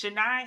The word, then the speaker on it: Chennai: called chennai hairs india i want to make sure i say it right because it had me it had me gone but it's shania hairs india now a little bit